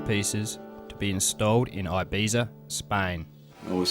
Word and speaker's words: Ibiza: English speakers tend to say Ibiza. The Spanish pronunciation is Ibiza, but Catalan is the most common language of the island, and they say Ibiza.